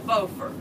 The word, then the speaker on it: Beaufort: thought they were in Beaufort did they okay that because that other Carolina has a faux fur and it's spelled the same way yeah and we're named